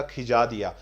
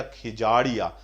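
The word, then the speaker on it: Khijadia: कई जगह हिंदी में इसको खिजाड़िया भी लिखा हुआ है, तो इसलिए मैं बोल रहा हूं खिजादिया या खिजाड़िया। अगर मैं इंग्लिश वर्ड देख के इसका प्रोनाउंसिएशन करूंगा तो खिजाड़िया, खिजादिया करूंगा। हिंदी में कई जगह इसको खिजाड़िया लिखा हुआ है, तो ये ध्यान रखना, खिजादिया ऑब्लिक खिजाड़िया।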